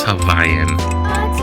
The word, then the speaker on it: Hawaiian: It is more important to pronounce Havayan correctly.